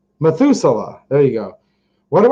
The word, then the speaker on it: Methuselah: um let's see here methylusa i probably pronounce that wrong methuselah there you go what